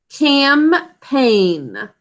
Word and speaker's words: campaign: The first syllable, ka-a-m, is basic code. That's a k making that first sound. What are the sounds in the second syllable? Campaign. P-a-n. 3 sounds.